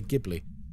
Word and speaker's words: Ghibli: It's pronounced Jibli, isn't it? But we all say Gibli. Um Jibli sounds wrong.